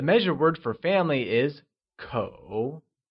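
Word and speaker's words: 口: The measure word for family is kǒ. It is pronounced with the falling, rising tone.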